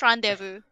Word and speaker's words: rendezvous: Wait, I mispronounced it. It's rendezvous. The same thing.